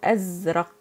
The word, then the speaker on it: أزرق: Blue is أزرق. This is قاف. This is why the K is thickened.